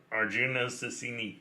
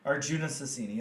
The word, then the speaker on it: Arjuna Susini: Let's again talk about, please remind me of this name, how you pronounced it. Arjuna Susini. Yeah, Arjuna Susini.